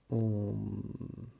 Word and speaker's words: Om: Om. You just don't say h. The very pronunciation has a certain method and a meaning.